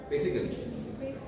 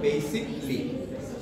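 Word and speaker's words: basically: আমরা বি এস আই সি এ এল ওয়াই বেসিক্যালি বেসিক্যালি বলতে বুঝতো না সবাই আমরা উচ্চারণ হবে বেসিকলি আমাদের অভ্যাস কি বেসিক্যালি বেসিক্যালি আমি এটা বলতে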